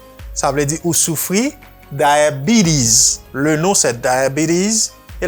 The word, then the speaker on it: diabetes: Ça pour connaître que S la prononcer à cause, on va mettre là pour. Diabetes. Et puis ça, prononcer comme I. Ou dit B. Diabetes. Diabetes, sous prononcer T tant qu'on dit rapide, même les Américains ont fait, on dit diabetes.